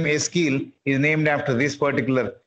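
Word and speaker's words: Ezekiel: His name is Eskil. Even L is silent, in fact.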